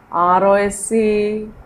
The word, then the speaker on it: rose: R-O-S-E.